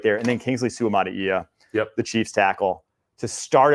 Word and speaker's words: Suamataia: Okay, you got to do the vowels, each one separately. Right, Suamataia. Suamataia.